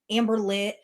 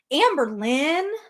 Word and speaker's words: Amberlynn: Again, only Amberlynn says like puts the emphasis on Amber and then like a little bit uh Amberlynn. Amberlynn. Like that's the way she says her own name.